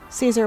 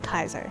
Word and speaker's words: Caesar: to pronounce everything caesar would have been said like kaiser yeah yeah because a the dip because the diphthong a e is pronounced like i so there's only one